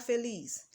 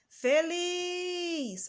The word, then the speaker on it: feliz: ver os exemplos feliz vamos pronunciar feliz feliz olha só um de nós demoramos mais o lispolis é a última sílaba da palavra portanto ela é a palavra feliz é oxítona vamos dar mais um